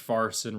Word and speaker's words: Farson: Richard Farson, Randall Flagg, Robert, whatever. So I thought, it rhymes with Carson, and it fits right in.